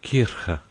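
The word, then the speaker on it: Kirche: In trying to attain the correct pronunciation of the German word for church, Kirka, long before I had done with it, I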